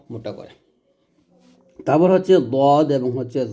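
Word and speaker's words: ض: এবং দদ আচ্ছা আচ্ছা দাল এবং দদের মারকাজটা দেখুন আমরা দাল দ শিখি দাল দাল হবে পাতলা দ হবে মোটা এবং দুইটা মারাজও আলাদা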